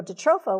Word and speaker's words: jatropha: From an acre for soy, and 500 from, how do you say that, jatropha?